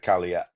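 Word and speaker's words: Kalaallit: The Kalia, that's how they pronounce it.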